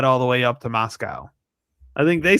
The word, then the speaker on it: Moscow: You you pronounce it like moss and the thing that eats grass and we get milk from Moscow.